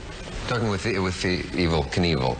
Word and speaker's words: Evel Knievel: evil knievel that's how you pronounce it you have a little